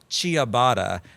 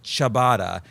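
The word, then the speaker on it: ciabatta: Daisy pronounced it as chia. And I said, "No, it's chabatada."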